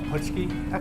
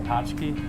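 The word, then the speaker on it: pączki: So first of all, let's talk about the pronunciation of this word. Well, my grandma, uh, would say, uh, putschki or patchy, you know, um, and my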